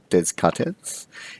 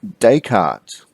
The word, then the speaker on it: Descartes: to look at is Rene Descartes do not pronounce it there's cut heads it is Descartes and today we're going to familiarize ourselves with